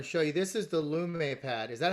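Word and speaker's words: Lume Pad: i'm going to show you this is the lumay pad is that how you pronounce it lume or loom or loom the loom pad we say loom and this is basically think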